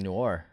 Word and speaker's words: Noir: think it would be really fun congratulations on pronouncing Noir I took my time with it I took